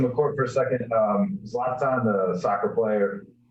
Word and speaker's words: Zlatan: Zlatan.